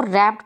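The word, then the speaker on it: wrapped: इसमें देखें कि डब्ल्यू से शुरू हो रहा है, लेकिन डब्ल्यू साइलेंट है, इसलिए इसको रैप्ड पढ़ा जाता है।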